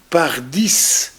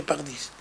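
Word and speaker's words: Pardies: Voilà donc il s'appelle monsieur Sébastien par 10 alors que ça s'écrit D i E S. On pourrait dire c'est madame Bardè ce que j'ai dit moi la première fois il m'a repris en disant non c'est monsieur par 10 donc soit par 9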